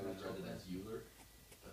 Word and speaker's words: Euler: Euler's It's number. been my new I always read it natural as Euler, but it's pronounced Euler.